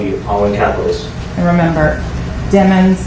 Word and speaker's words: Demons: following capitalists and remember demons like rhymes with lemons I know my okay going on to October 26 2018.